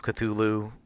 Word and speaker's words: Cthulhu: long, famed Call of Cthulhu. That is the phonetic way to pronounce it.